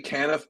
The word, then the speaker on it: Canaff: I say Canaff, but there's a whole arm of my family that says Canaff, so both are correct.